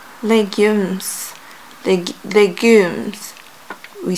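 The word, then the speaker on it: légumes: of my legumes yeah that's how we say it in French legumes the the Goons we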